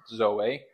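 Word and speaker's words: ζωή: so there's the Greek there's the pronunciation de Zoe so it's Zoe okay then there's the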